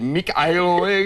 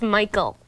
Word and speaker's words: Mikael: Is it Mikael? It's pronounced Michael.